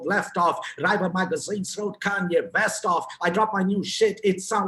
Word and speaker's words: Kanye: now all i need is you all to pronounce my name it's kanye but some of my plaques they still say